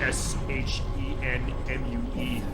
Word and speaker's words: Shenmue: I was actually pronouncing it wrong, because like, it's a Shenmue, S-H-E-N-M-U-E. At first it looked like a Japanese pronunciation correctly, Shenmue.